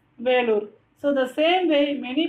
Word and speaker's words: Vellore: So Velur, it is in Tamil and in English Vellore. So we have to pronounce it as Velur.